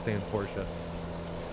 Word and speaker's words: Porsche: I'm gonna try to start saying Porsche, just because I know that's the right way to say it.